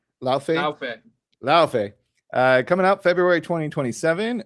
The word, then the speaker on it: Laufey: God of War, is it Laufey or Luffy? Pronounce it for me. Laufey.